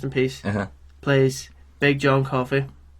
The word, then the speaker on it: Coffey: Plays Big John Coffey. It's like the drink, but no, just not spelled the same.